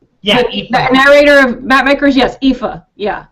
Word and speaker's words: Aoife: pronunciation I'll be correct Aoife yeah narrator of mapmakers yes Aoife yeah it's a Gaelic name I guess her and